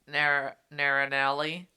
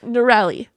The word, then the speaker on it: Norelli: When Naranelli. See, every time you mispronounce something after we just listened to it, I'm going to just feel righteous. You should. Okay. It's Norelli. When Norelli called Xaden Dane.